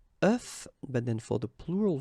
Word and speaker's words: œuf: And the tricky thing when we're talking about eggs is that if you listen carefully, the pronunciation is changing quite much, because for the singular form it's œuf, but then for the plural form here it's okay?